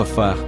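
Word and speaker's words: עפר: Versículo 7 no texto hebraico a palavra pó pronunciado a far pode ter ter um significado mais profundo algumas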